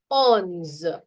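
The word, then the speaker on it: onze: move to 11 to 20 to understand the pronunciation better 11 is called as ons on please repeat after me ons 12 is do 13.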